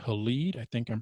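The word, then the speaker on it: Halide: cameras but there's an app out there called elite i think i'm pronouncing it right h-a-l-i-d-e made by um you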